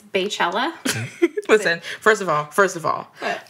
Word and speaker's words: Beychella: B-E-Y is pronounced B. Yeah, I mean, I say Beyonce. Exactly. But it's not, if you have B-E-Y Chella, it's Beychella.